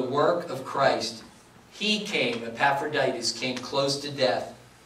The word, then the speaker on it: Epaphroditus: Epaphroditus, okay? Epaphroditus.